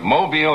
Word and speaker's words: Mobile: I was down in Mobile, have to say it right, Mobile, Alabama, for the Junior Miss pageant last evening.